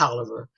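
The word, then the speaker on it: Taliaferro: 31st 1873 he says i was born in toler there's that spelling again because nobody knows how to spell that t-a-l-i-a f-e-r-r-o they don't know it's pronounced oliver tyler county georgia sixth district uh where brought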